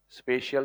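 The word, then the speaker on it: spatial: Spelling देख लेना board पे स्पेशियल की है ना स्पेटियल दिखेगा। स्पेशियल प्रोनाउंस होता है। स्पेशल मत लिख देना।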